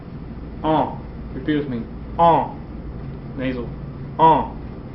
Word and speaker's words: an: 13 now a couple notes the word for year oh refuse me oh nasal oh okay don't pronounce the N it's nasal oh it's a masculine now